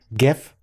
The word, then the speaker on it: GIF: amongst yourselves whether um it's jeff or gif but um more important is